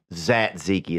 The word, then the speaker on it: tzatziki: on to that tzatziki zat Zeki is how you pronounce it dude I'm not mad